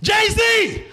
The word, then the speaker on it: Jay-Z: So is it pronounced Jay's now? No. It went from all lowercase except for the J and the Z. All lowercase. You know, it was Jay-Z. Now it's Jay-Z!